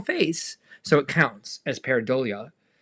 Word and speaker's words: pareidolia: Well, if you're curious, Dawn, Miss Slobrichta, taught us how to say it. It's pareidolia. Pareidolia, seeing faces in inanimate objects.